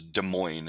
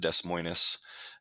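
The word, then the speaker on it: Des Moines: going to look at this Tinker versus De Moine is how you say that not Des mois De Moine is the capital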